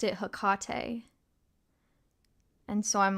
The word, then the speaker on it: Hecate: heard a lot of people say hakate the worst pronunciation I've ever heard was one time I was in um I was in a Shakespeare play and the lead of the play had to say her name because Shakespeare loves witchcraft and he was like saying his line or whatever and he said heck it and I said